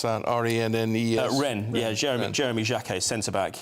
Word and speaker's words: Rennes: So they've made a promise to pay 60 million quid to, how do you pronounce that? R-E-N-N-E-S?